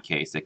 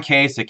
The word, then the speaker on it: Kasich: that our governor and you pronounce his last name wrong there Patrick because it's not John Kasich it is Kasich suck and that's what he